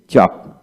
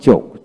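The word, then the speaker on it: chalk: এল কে ওয়াক ওয়াক সি এইচ এ এল কে চক চক আবার চোখ চোখ হলো ব্রিটিশ উচ্চারণ চক হচ্ছে আমেরিকান উচ্চারণ তারপর আসেন ওয়াকিং ওয়াকিং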